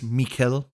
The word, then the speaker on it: Mikkel: Watch somebody's, it's Mikkel Ockerfelt. Mikkel Olkerfelt. His growls are great. Everyone calls him Michael Ockerfelt.